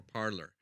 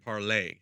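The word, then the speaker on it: Parler: gab was way before parlor okay or is it parlor or parser that's its part it's PA RLE are yeah RL yeah it's supposed to be pronounced like parlay like the French word I was reading cuz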